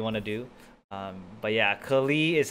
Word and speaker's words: Klee: But yeah, Klee is how it's pronounced in the game.